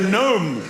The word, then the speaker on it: gnome: Very subtle flavor and the gnome will be the symbol of silent letter day.